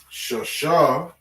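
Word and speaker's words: שש: Shasha, all right, as we were saying, Shasha is the number 6.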